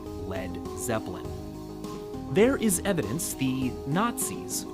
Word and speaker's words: Led Zeppelin: his band's new name he removed the a so it wouldn't be pronounced lead and that's where we got led zeppelin there is evidence the